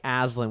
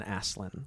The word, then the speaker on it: Aslan: Yeah, I like Aslan with a Z better than Aslan.